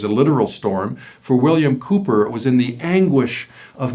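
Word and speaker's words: Cowper: john newton and william cooper it's spelled c-o-w-p-e-r but pronounced cooper william cooper was a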